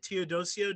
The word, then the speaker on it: Teodosio: here so we have here theodosio did i say that right yep you did